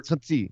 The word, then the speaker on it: Conti: Is it Conti or Conchi or? Conti. Yeah, it's like a Brazilian pronunciation for Conti. Right. The Portuguese pronunciation.